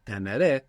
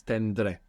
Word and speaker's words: tendré: It would be teneré, but it's tendré, which just makes everything a little bit more efficient.